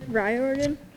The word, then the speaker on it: Riordan: all very honored to be introducing Rick R rordon to oh uh dang I forgot how you pronounced his last name Rick rordon yeah perfect perfect it's so hard it's so